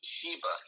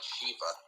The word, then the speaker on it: Sheba: Okay, so it's the Queen of Sheba, not Shiva.